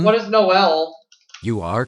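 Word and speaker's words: Noël: French for Christmas, it can be pronounced with 1 or 2 syllables. Contestant number 1. What is Noel?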